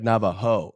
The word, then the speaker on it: Navajo: that's fantastic for the Navajo people what they're they're just but it's spelled the right way it should be like Nava ho like you're a hoe right but that would be